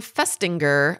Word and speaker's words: Festinger: A psychologist by the name of Leon Festinger, I don't know how you say his name, Festinger, it's F-E-S-T-I-N-G-E-R.